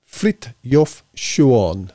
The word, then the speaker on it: Frithjof Schuon: you can see it, Frithjof Schuon, apparently is how it's pronounced. I'm sure I'll be corrected, but that's what I got when I looked him up.